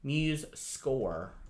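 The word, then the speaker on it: MuseScore: that in the comments muse muse score is how it's pronounced um because that's free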